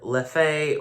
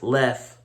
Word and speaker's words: Leffe: Now, a lot of people pronounce this beer Leffe or Leffy, but the correct pronunciation of this beer is Leffe, according to their website.